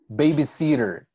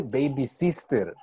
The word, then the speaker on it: babysitter: Babysitter. She's a babysitter. No se dice baby sister, right?